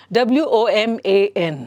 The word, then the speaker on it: woman: It is pronounced as woman, woman. Va sound barattali, so it is woman. So the different people pronounce it differently, but that is wrong. So you have to pronounce it the standard way, all right? So ಹಾಗಾಗಿ ಇಲ್ಲಿ woman ಅಂತ ಹೇಳಿದಾಗ ವ ಬರಬೇಕು. Though the letter there is W ಇದ್ರೂ ಸಹ we have to pronounce it as woman, and a woman is a single lady, okay?